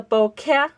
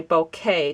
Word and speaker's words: bokeh: C is like kettle so this is the Boke technique but it's kind of easy to say bouquet technique which is how I've heard many people pronounce it or the boka technique which is also a popular way to